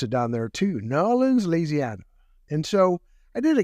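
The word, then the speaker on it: New Orleans: took to newans and we learned how to pronounce it down there too nans laana and so I did a keynote on leadership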